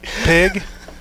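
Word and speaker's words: Puig: and this the kid from uh the dodgers peak yeah pig all right how you say it pig pig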